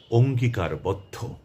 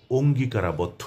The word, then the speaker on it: অঙ্গীকারবদ্ধ: তো সে শব্দটি হচ্ছে অঙ্গীকারবদ্ধ। এই শব্দটিকে অনেকেই অঙ্গীকারাবদ্ধ হিসেবে উচ্চারণ করেন। যা সঠিক নয়, শুদ্ধ নয়। এটি করা চলবে না। এর একটি উচ্চারণ আর সেটি হচ্ছে অঙ্গীকারবদ্ধ।